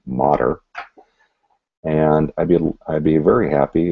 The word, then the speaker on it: Mader: And again, for those learning the pronunciation, it's Mader.